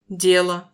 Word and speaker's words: дело: Дело. Affaire est accentué sur la première syllabe au singulier, mais sur la deuxième au pluriel.